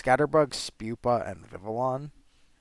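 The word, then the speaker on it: Vivillon: it's Scatterbug Pupa and vivalon which I always used to pronounce as vivon I'm sure or vion or something like that um and I'm sure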